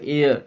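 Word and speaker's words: heir: Dash H আয়ার, এর উচ্চারণটা এ অন্তস্তয় জফলা আকার এর, ড্যাশ হেয়ার ফেয়ার কিছু নয়, হেয়ার মেয়ার চেয়ার এসব কিছু নয়, এর উচ্চারণ হচ্ছে এয়ার, এ অন্তস্তয় জফলা আকার এয়ার, তাহলে অ্যান বসবে।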